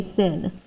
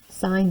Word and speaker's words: sine: You guys love to say sin. It is sine theta.